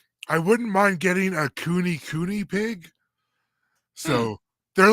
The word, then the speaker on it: Kune: I wouldn't mind getting a cooney pig. So they're like hairier. They look like a dog pig. Nice. Yeah. How do you spell that? It's Kune Kune. Cooney. Cooney.